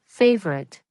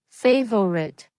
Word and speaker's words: favorite: Native speakers often remove the middle schwa sound. Instead of saying favorite, we say favorite. This process is called syncopy. It means removing a small sound in the middle of a word.